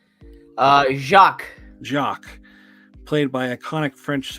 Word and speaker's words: Jacques: Jacques.